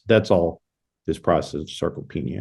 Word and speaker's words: sarcopenia: Sarcopenia?